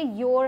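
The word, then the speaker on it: you're: Pronunciation पर ध्यान रखिएगा, ये योर है, ठीक है, योर।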